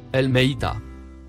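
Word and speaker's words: الميتة: mot en surbrillance jaune se prononce elmeita ce qui se traduit par la morte voyons le dico définition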